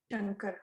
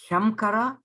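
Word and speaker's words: शङ्कर: Shankara. Shankara. Shankara. Do you pronounce that Shamkara, that Makara? No. No. No.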